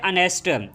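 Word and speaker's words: honest: नहीं आ रहा जो वर्ड अनेस्ट है ये एस से शुरू हो रहा है। लेकिन एच यहां पर साइलेंट है। जब हम इसको पढ़ते हैं तो हम पढ़ते हैं अनेस्ट।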